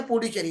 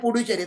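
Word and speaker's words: Puducherry: 28 state, Delhi, Jammu Kashmir and पौंडीचेरी या पुडुचेरी, इसमें इधर उसका स्पेलिंग क्या है, पुडुचेरी, तो मैं पुडुचेरी बोलूंगा, अपन लोग उसको पौंडीचेरी बोलते हैं, लेकिन पुडुचेरी इसके हिसाब से।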